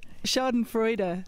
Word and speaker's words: Schadenfreude: So Schadenfreude, so four syllables. Usually in German.